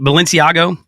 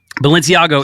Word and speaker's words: Balenciaga: the thing uh gosh I keep balenciago Balenciaga is a brand that's not a person so what how is it what is it what is it Balenciaga Balenciaga with an a all right Balenciaga Balenciaga